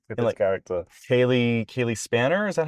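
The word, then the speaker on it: Spaeny: Kaylee Kaylee Spanner. Is that how you say her name? Spainy.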